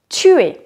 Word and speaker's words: tue: prononciation qui est tu je tue je ne prononce pas le E je tue je ne